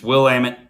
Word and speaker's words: Willamette: So if you ever want to know how to pronounce Willamette, it's Willamette, damn it.